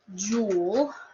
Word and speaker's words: joule: So I mentioned this joule, okay, and it's not spelled like a precious jewel, J-E-W-E-L. This is spelled J-O-U-L-E.